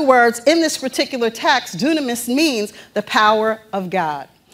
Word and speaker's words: dunamis: the word power, it's using the Greek word dunamis. Now, for those of you who are taking notes, dunamis is spelled D-U-N-A-M-I-S.